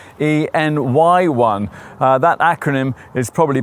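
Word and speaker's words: e:Ny1: company of innovation thank goodness so e anyone well actually this Honda's name is supposed to be pronounced en n y1 uh that acronym is probably a bit too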